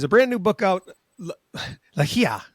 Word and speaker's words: Ligia: Ligia, right? Yes. Is that correct? Ligia, yes. Ligia. Yes. All right. So I'm putting the emphasis on the wrong spot. Ligia Hoban is her name,